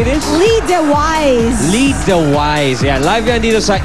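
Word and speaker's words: Lee DeWyze: How do you say this Lee the wise lee de wise aan live yan dito sa e bulaga at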